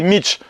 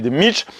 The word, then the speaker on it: Mici: monde d'accord avec des Mitch. Je dis, c'est quoi des Mitch? Alors, ça s'écrit M-I-C-I, mais le I se dit pas à la fin.